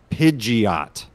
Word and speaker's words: Pidgeot: needed to ask it according to this one it says let's see there it is down here pidgeot is the pronunciation yeah that's right so